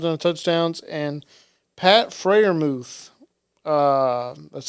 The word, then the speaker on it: Freiermuth: Connor Hayward had 2 receptions, 23 yards and a touchdowns, and Pat Freiermuth, that's how you say it, apparently. He had That's how you 3 for pronounce it?